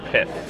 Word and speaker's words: Pithing: But Pithing Needle is pronounced pith, like myth.